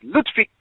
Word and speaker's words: Ludwig: He has a German name, children, and it's pronounced Ludwig, children.